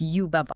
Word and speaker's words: Yubaba: Well, the Baba part is not pronounced like a sheep going baa. It is a rhythmic, very staccato ba baa. The guide compares the cadence to the word papa in Spanish.